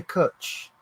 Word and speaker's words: cwtch: It's spelt with a W, CWTCH. Yeah. Cutch.